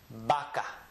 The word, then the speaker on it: vaca: For me, I generally pronounce the letter B, and when I read words, I read it with a B sound. Vaca.